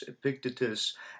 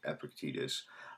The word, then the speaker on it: Epictetus: told me it's Epictetus, and I had heard people pronounce it both Epictetus and Epictetus. I think now, the more that if you go to certain sources, the more I talk to other people, I think there is agreement that it's something like Epictetus.